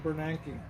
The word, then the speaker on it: Bernanke: it to bernanke right ben bernanke that's how you say it bernanke ben bernanke benjamin bernanke